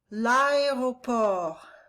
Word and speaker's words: L'aéroport: L'aéroport. L'aéroport. Keep in mind you have an A and then an accent aigu, which is up and away.